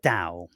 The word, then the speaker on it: Tao: Ching um what is that with that the Dow I've heard of it but I never D too deep into that right so when people about talk about the da it's spelled Tao um and it B can